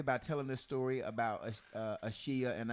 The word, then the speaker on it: Ashiya: And so one day Dwayne's like, B, the wife say her name is not Asia, it is Ashiya.